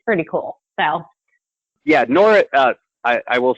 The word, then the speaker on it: Nora: But you're probably most well known for, and I want to make sure I get this right, I believe the character is pronounced Nora!